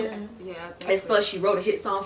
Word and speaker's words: aespa: I think it's aespa. Is that how you say it? Yeah. aespa.